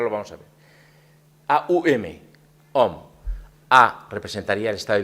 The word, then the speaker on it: Om: La sílaba Om en sánscrito son 3 letras, ¿vale? A-U-M, Om, ¿vale?